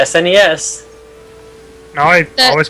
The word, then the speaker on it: SNES: do you say that i think it's nice yes okay thank you go ahead i can't say i've ever heard anybody call it that i've you know it's snes no i always call